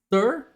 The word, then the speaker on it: str: de STR em minúsculo muita gente pronuncia isso daqui thur ele é o tipo